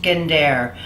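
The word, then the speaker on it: gendér: mostly gendere is it's spelled like gender but pronounced gendere uh a gendere means bronze Keys suspended over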